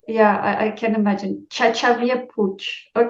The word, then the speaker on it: Xavier Puig: name I'm from Barcelona so it's a Catalan name nice awesome but depending even within my the reason where I live they like pronounce it differently depending on the region so it always causes like a lot of confusion yeah I can imagine